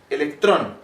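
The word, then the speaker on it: ἤλεκτρον: animal aparecían chispas bueno el nombre de esta resina se conoce como ámbar que en griego se pronuncia electrón de ahí viene el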